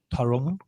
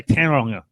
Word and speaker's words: Tauranga: Tauranga. I used to say Tauranga when I was at school. That was terrible pronunciation.